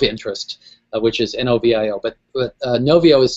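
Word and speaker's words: Knovio: There was a couple of questions that came in about Novio, and people in the question were actually misspelling it.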